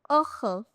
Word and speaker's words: heureux: If my final letter is X, like deux heureux it will be silent. If the final letter is X, it will be silent. deux heureux Deux means two and heureux means happy. heureux It's heureux. Now, here two letters are silent. H and X Uh we'll be learning